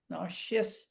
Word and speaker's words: nauseous: அப்புறம் இந்த இதுல வந்து நான் இஸ் இருந்தா கூட அதை வந்து SH தான் நம்ம ப்ரொனவுன்ஸ் பண்றோம். நாஷியா, நாஷியஸ். ஓ இங்க ஓகே.